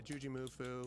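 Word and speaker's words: JujiMufu: I saw a video with you and Juju Mufu. Yeah. Is that how you say his name? Yeah, Juji. Juji. Yeah. Juji Mufu? Yeah, Juji Mufu.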